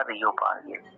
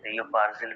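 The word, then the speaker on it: Reo Purgyil: अब इसी रेंज में फेमस पीक है रियो पार्गिल, जो कि हाईएस्ट पीक है हिमाचल प्रदेश। जांस्कर रेंज में क्या नाम है? रियो पार्गिल, रियो पार्जिल भी बोलते हैं, पार्गिल भी बोलते हैं, प्रोनाउंसिएशन है।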